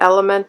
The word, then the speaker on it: ELMT: I finished this ELMT, or Element is the way that they pronounce the name, Skin Illuminating Solution.